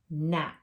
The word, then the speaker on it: gnat: So remember, the G is quiet. we go right to the N. So yesterday we had at, gnat.